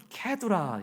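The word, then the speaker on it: קטורה: 후처의 이름은 그두라 있니다 히브리어 발음으로는 캐드라 있더라고요 그 뜻의 이름은 유향이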